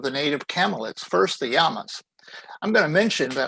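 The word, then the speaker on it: llama: native camellits first the yamas i'm going to mention that i am pronouncing this as it is in spanish the double l is pronounced like a y in english so it's yama not lama if you say lama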